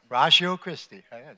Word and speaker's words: Ratio Christi: have been doing uh I always say it wrong rashio rashio Christie rashio Christie that's good I got a really difficult